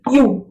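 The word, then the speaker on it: ewe: ये लिखा है, इसका प्रोनाउंसिएशन है यू, ठीक, यू है।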